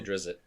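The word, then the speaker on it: Drizzt: that i say drizzy that's how i've always said it there's it um yeah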